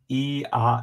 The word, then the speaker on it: Eeyore: Because in Britain, RE or is like ah, so E ah is so like the Britons actually pronounce Eeyore's name Ea.